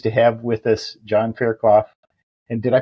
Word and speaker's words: Fairclough: And we're really pleased to have with us John Fairloth. And did I pronounce that right, John? John Farcloth.